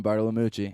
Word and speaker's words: Bartolomucci: I bring you Adam Bartolomucci.